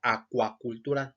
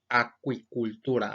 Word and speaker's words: acuicultura: y buscan la palabra acuacultura nunca la van a encontrar porque no es correcta el término correcto es acuicultura así como nosotros pronunciamos agricultura si el término correcto